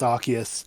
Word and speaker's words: Arceus: pronunciations are legitimate apparently the reason that it's pronounced arceus in the uh like anime and stuff in